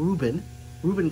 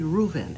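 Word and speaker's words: Rueven: I kept saying Reuben glass, but it was actually Reuven, and I think it's spelled R-U-E-V-E-N, Reuven glass, right?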